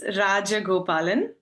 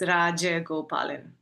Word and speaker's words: Rajagopalan: It's Rajagopalan. So the J is pretty heavy. So it's Rajagopalan. That's not hard at all once I know how to do it.